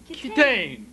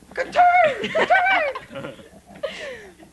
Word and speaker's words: Kitaen: Pronounce it. Kitaen. Kitaen. Exactly. Kitaen.